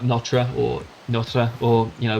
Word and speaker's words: Notre: notre dame and but by the french it's not pronounced nota it's pronounced something like notre or notre or you